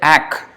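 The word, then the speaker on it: এক: There they say ak.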